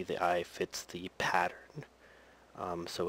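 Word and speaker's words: そ: the last sound is so sound so um just to give an example the so sound sounds like the O in Sophia um the C Sound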